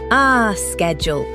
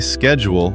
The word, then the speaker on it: schedule: In American English, we usually say schedule with a sk sound at the beginning. Schedule. In British English, many people say schedule with a sh sound.